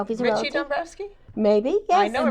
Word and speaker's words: Dombrowski: And then I have this other wonderful lady who is sitting next to her, and that is Patricia Ann Dombrowski.